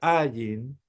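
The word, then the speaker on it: ע: era la ain que es una muda es una letra muda pero es cutural Y acá es donde nosotros tenemos que ver que la pronunciación es un poquito complicada porque es como que son las vocales pero metidas en la campanita uno tiene que decir como que te están agarrando el cuello así t y ahí dice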